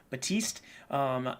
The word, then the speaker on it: Baptiste: I don't think you pronounce it P. Baptiste.